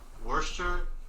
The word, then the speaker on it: Worcester: It's spelled like Worcestershire, but it's actually just called Worcester.